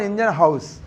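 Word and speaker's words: Ingenhousz: और बहुत लोग सुनते हैं हाउस इज दैट, समझे बेटा? वो मतलब जब अपील की जाती है तो वही करते हैं प्लेयर्स, तो उसी से प्रोनाउंसिएशन से जो निकला है वो यही आया बेटा, जॉन इंजनहाउस। आया बेटा?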